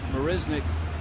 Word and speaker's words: Marisnick: Marisnick has bounced out, struck out. We're talking to Jake's family. They pronounce the name with more of a Z than an S in the middle.